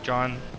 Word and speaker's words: Juan: standard Mr Blake hi Juan or John or it's always very confusing with your name and how you want it to be pronounced it's John yes even though it's spelled okay I'm over here breaks